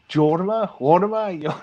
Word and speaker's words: Jorma: How do you bloody pronounce it? Jorma.